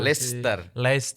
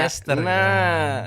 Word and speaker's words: Leicester: Leicester. Nah itu nyebutnya Leicester, meskipun bukan tulisannya Leicester.